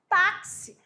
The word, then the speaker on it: táxi: é importante que é é uma letra com dois fonemas ao contrário do LH